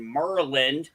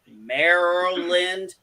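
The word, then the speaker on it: Maryland: california avp lives in merlin yes i said merlin deal with it that's how i pronounce it do you know how hard it is for me to say merrell lind i know it drives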